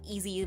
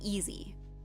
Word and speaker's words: EZ: but, like, you know, easy, but it's spelled, like, EZ. But we still pronounce it easy.